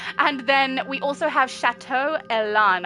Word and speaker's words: Chateau Elan: And then we also have Chateau Elan I believe is the pronunciation for that one.